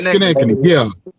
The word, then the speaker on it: Schenectady: Skets, how you pronounce Connected. Skeskany? Connected. Yeah, Connected. Schenectady.